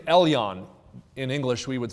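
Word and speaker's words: עליון: That is the Hebrew name Elyon. In English, we would spell it E-L-Y-O-N, Elyon.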